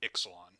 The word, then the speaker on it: Ixalan: way that looks Mesoamerican, but they pronounce it in the more Latin way of Ixalan, which is stupid.